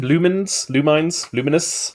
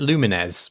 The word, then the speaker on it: Lumines: Luminous. I always pronounced it Lumines, but that's almost definitely wrong.